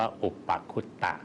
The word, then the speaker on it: อุปคุต: มี ขระ นี้ หมด อ่าน ว่า อุปคุต นะ ครับ ครับ ซึ่ง